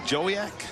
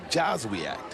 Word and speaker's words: Joswiak: And Chandler, what is it, Jowiak? Josie, how do you say that, Paul? Joswiak. He might be one of